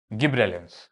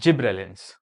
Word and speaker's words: gibberellin: double B double L गिब्रेलिंस ठीक है some people call it जिब्रेल ठीक है या फिर गिबलर एसेट भी बोलते हैं